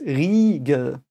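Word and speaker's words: Riegel: a new German thing an i and an e is just no I think we had it before right it's just e again like it's a long e um so it's regal um Canyon and Regal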